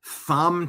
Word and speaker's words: Thom: Matt Van Swol says, breaking, North Carolina Senator Thom Tillis. Who spells Tom with a silent H, by the way?